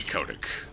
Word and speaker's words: Kotick: gaming and he doesn't like gamers but Bobby Kotick that's how you pronounce it you know the head of Activision